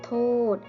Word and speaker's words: โทษ: โทษ อ่าน ว่า ขอ โทษ คำ ว่า โทษ ใช้ สอ รือ สี เป็น ตัว สะกด อ่าน ออก เสียง เหมือน เด็ก สะ กด ค่ะ กระดาษ อ่าน ว่า